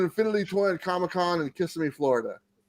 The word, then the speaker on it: Kissimmee: toy at comic-con in kissimmee florida oh oh kissimmee kissemmi thank you so much that's how you say it everybody i've been saying it wrong this whole time autumnal but uh i'll